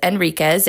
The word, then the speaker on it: Enriquez: It's Enriquez. H is silent.